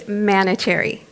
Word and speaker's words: Manoucheri: How do you say your name? It's Manoucheri. Manoucheri.